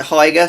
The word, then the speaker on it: Hygger: good things about heiger i'd want to pronounce it higger but everybody seems to pronounce it higer so that's what i'm going for and in here